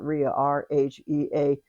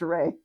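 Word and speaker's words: Rhea: of c sibil and ray. Rh ea. That's how it's pronounced around here. Some people pronounce it ria. But if it's a family name in the world I live in it's pronounced ray.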